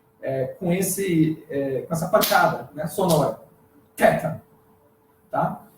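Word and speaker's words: θ: No período da koiné, ou seja, no período do Novo Testamento, ele já se pronuncia como em inglês o TH, né? O TH em inglês, que o TH de think, né? De earth, que é de theology, enfim, que é esse som com a língua entre os dentes.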